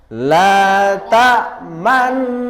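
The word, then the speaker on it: لَا تَأْمَنَّا: Maka cara bacanya tadi la ta'manna. Begitu. Sekali lagi semua. La ta'manna. Kalau tidak ada mencucunya bagaimana Ustadz? Ya salah. Kalau nanti praktek ujian pada ustadznya, pada gurunya, kalau tidak mencucu berarti salah. Salahnya tadi tidak mengisyaratkan bunyi nun yang berharokat dhammah yang dibuang.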